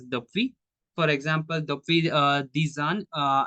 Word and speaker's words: depuis: après, before means ava, since, depuis, we pronounce as depuis.